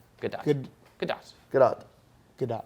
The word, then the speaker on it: Gadot: pronounce the T softly, not a soft T.